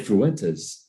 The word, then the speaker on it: Fuentes: Can I hear it? Fuentes. Fuentes. Yeah, you said it right.